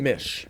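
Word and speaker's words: Miech: Uh John Meek, I believe that's how you pronounce it. Mish. Mish. John Mish, I'm sorry.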